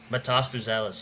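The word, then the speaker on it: Matas Buzelis: you can correct me is it Matas buis Matas buellis yeah yeah so buellis in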